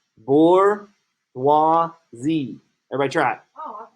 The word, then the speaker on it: bourgeoisie: Bourgeoisie.